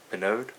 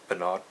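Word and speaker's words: Pinaud: Man by how I I guess it's pronounced panod p penod p i n a u d French um penod Clubman After Shave lotion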